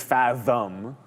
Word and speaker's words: Fathom: Fathom, I read it wrong. It was, I'll say fat because the ticker is PHAT. Right. Thank you very much. I thought that's what it. That's how you pronounce it, right? So. No, but it's not really fat if it's fathom.